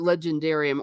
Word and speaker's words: Legendarium: his history, his story, the Tolkien Legendarium, or the Legendarium, using the American pronunciation. Why don't you tell us a little bit about that? Like when someone says the Legendarium, or when J.R.